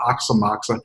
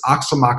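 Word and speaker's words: Aoxomoxoa: so uh I was never sure how to pronounce that until finally a deadhead said it's not ox on Moxon it's ox amok so it's a oxo mo ex Oh a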